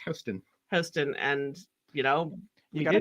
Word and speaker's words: Houston: Yorker on my pronunciation of Houston Street I pronounced it like Houston Street but apparently it's Heston it's Houston and and everyone from New York knows that